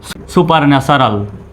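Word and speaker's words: supernatural: এন এ ন্যা টি ইউ আর এল রাল সুপার ন্যাচারাল স্পোরাডিক্যালি একসাথে বললে মনে হয় অনেক বড় ওয়ার্ড যদি ভেঙ্গে ভেঙ্গে উচ্চারণ করি তাহলে কিন্তু সহজ মনে হয় যেমন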